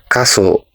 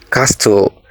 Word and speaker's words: castle: as sword or sword the correct pronunciation a is sword the silent letter here is letter W